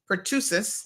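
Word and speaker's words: pertussis: and also whooping call which is pusis I think that's how it's pronounced can occur in middle age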